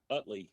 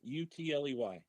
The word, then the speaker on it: Utley: Utley. U TL E Y. Ah, okay. Okay. Uh, it rhymes with it rhymes with ugly, and I learned that about day two of first grade.